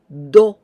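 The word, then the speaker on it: ど: To and 10, do, do, like donuts.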